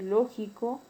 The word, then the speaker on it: lógico: Y una palabra es esdrújula o proparoxítona cuando la mayor fuerza de voz recae en la antepenúltima sílaba. Tenemos el caso de lógico y máquina.